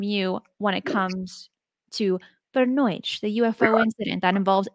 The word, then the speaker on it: Voronezh: Voronezh. I had to use the pronunciation help for that one, and I felt pretty cool saying it.